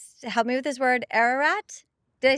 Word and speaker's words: Ararat: Ararat.